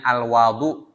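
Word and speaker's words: الوَضوء: Sedangkan wudu kalau dia dibaca dengan fathul wawi ya dengan membaca fathah pada huruf wau. Jadi bacanya al-wadu ya.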